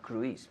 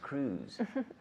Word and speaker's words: Cruise: Amigo Mio Tom Cruise we say in English Tom Cruise not Greece but Cruz right A friend of